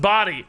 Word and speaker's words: Bodhi: He is a pro player and his name is pronounced Body.